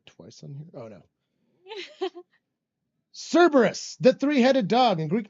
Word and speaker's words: Cerberus: tail curus curus curus it's Cerberus my emphasis is wrong Steph has a comma